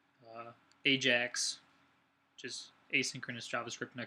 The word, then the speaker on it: Ajax: Holland ax but uh it's actually pronounced Ajax the J is hard here um we're goingon to